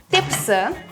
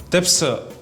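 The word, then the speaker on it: тепси: Итак, софрага, тепсы, кашык, санчка, бычак, ветабах, коймах, керек. Айше, давай помедленнее, я все-таки записываю. Так, тепсы, это же как кабель для зарядки телефона, правильно? Нет, нужно произносить мягче.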